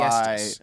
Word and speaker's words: Aestas: I think it's Aestas. That's how Aestas. That's how I see it. Aestas. It's Latin for summer breeze.